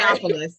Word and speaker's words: Theopolis: Theodophilus? What is it? Um, Theodophilus? Theopolis. Wait, Theopolis. Sorry, Theopolis. Theopolis. Theopolis. I kept trying to put in an extra syllable, like an extra whole thing there.